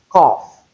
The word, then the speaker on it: cough: It can also be realized as of the o sound and f sound as in cough. Note this combination. It is not the same. It doesn't rhyme with enough.